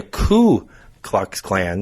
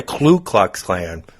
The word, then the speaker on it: Ku Klux Klan: And speaking of white supremacy, it's the Ku Klux Klan, not the Klu Klux Klan. People say L on the first word, too.